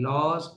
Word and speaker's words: laws: you can say the laws of life how will you say the law pronouns the word loss in plural how will you pronounce it not loss laws will you pronounce it laws correct yeah i'm pronouncing it